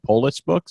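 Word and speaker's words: Polis Books: then he started his own publishing company uh Poulos books is how you pronounce it yeah that's right yeah and he's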